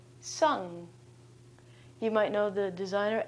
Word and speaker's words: Sung: When we pronounce the end of this word, we close off our vocal cords right away so that we don't actually say the g at the end.